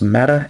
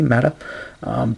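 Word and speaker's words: Ma'at: I believe that's pronounced Mata, M-A''A-T, Mata.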